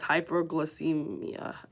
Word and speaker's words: hypoglycemia: And that's hypoglycemia. I believe that's I was pronouncing that wrong in the beginning.